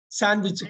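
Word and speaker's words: sandwich: முக்கியம் ஏன்னா அடுத்தது பாருங்களேன் சாண்ட்விச் காலையில வந்து சாண்ட்விச் சாப்பிடுவோம் இல்லைங்களா சாண்ட்விச் சாண்ட்ன்னு சொல்லிடக்கூடாது இருக்குங்கறதுனால சொல்லிடக்கூடாது சாண்ட்விச் அந்த டி இருக்குங்கறதுனால அதை உச்சரித்துடக்கூடாது சாண்ட்விச் சாண்ட்விச்ல காலை அந்த காலையில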